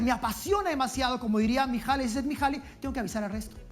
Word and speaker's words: Mihaly Csikszentmihalyi: Mihaly Csikszentmihalyi. No me he equivocado, amigos. No. Estoy pronunciándolo bien. Lo he entrenado mucho tiempo. Mihaly Csikszentmihalyi.